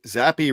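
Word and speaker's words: Zappe: Zappi rhymes with crappy.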